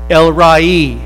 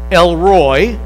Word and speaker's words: El Roi: This week we're going to learn that he is El Rai. Now, some people look at this and pronounce it, and it's okay if you want to pronounce it Elroy, but Elroy just kind of sounds like an